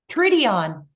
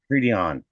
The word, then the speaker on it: Treedeon: Treedeon. Treedeon. Treedeon. Okay. I guess the pronunciation in German is a little different. Germans say specifically every letter.